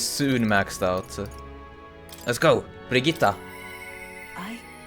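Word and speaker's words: Brigitta: That's just how I'm used to saying it because uh ostensibly I see Briita as a Swedish name. So I'm going to pronounce it So I'm going to pronounce it the Swedish way as well.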